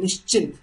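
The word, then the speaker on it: निश्चिंत: like that you know so in Hindi if you go it's Nish and chint right chint means tension something you're worrying about all right Nish chin means Nish means without so without any tension without any worry that is called nishin right nishin n and then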